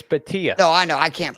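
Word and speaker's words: Bhatia: It's Batia. No, I know. I can't pronounce anybody's name, so I've been saying it wrong for forever.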